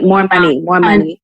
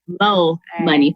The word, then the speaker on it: Mo Money: I wish not more money. It Mo is money. Mo money. Please pronounce it. Give it the respect it deserves, ma'am.